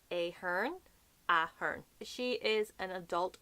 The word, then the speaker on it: Ahern: A lot of the ways that we pronounce things, we don't give such an emphasis on the second syllable almost. I don't know what way it is in linguistics, but we go Ahern, not Ahern. Ahern. The emphasis is kind of like at the start, Ahern, and then you go down the ways.